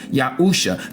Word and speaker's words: Yahusha: you know as Joshua his real name in Hebrew the pronunciation is yahusha the same as our